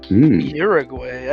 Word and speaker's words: Uruguay: uruguay i thought you said you're a gay it's uruguay here we go yeah um